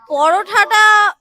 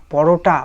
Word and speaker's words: পরোটা: লেগেছিল মানে তরকারিটা কিন্তু পরোঠাটা ওটা পরোঠা না পরোটা ভালো করে উচ্চারণ করতে শেখ তারপরে তো রিভিউ দিবি